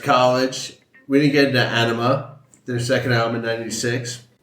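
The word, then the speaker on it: Ænima: drifted we left College we didn't get into Ana their second Al in '96 why are the fans so crazy uh so awesome question first of all it's pronounced Ana so that there's proof enough that you're not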